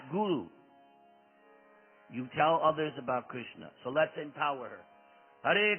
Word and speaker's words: Krishna: The first syllable is Krish.